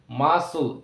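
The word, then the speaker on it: muscle: অর্থাৎ এখানে C silent মাসল এম ইউ এস এল ই মাসেল অর্থাৎ সি লেটারটি এখানে উচ্চারণের মধ্যে আসছে না মাসল সিন এস সি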